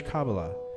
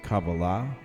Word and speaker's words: Kabbalah: pertaining to the Jewish Kabbalah, and continue your own mystical journey. We will begin with the first section. Whether you pronounce it Kabbalah or Kabbalah, either way is fine.